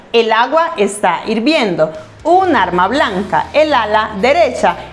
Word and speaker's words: agua: or intensity for example agua begins with a sound ah and this is the syllable that has the accent agua agua two this noun belongs to